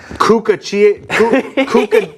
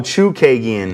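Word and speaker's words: Chookagian: All right, in the women's flyweight division, Caitlin Kukagian? Chikagian, that's really how you say it? Chukagian. Oh, Chukagian.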